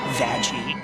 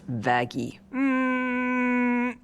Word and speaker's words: Vaggie: I named you after the best thing ever vagi actually it's pronounced vaggy no I really like this twist because all